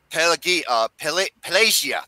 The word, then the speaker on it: Pelagia: My least favorite fight of the game is number 12, Pelagia. That's how you pronounce the name.